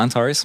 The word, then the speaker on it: Antares: I'm saying that right? Yeah, Antares. Yeah.